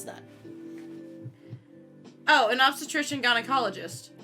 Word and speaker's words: gynecologist: that oh an obstetrician gynecologist gynecologist is what you're saying right there are two g's in the word gynecologist one is pronounced g one is pronounced j that means it's all